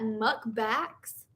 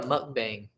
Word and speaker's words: mukbang: I like some and do you say that muck backs uh is that how you say it I've never heard that book it's called a mukbang oh I don't if you think Diablo is spicy you're still 13.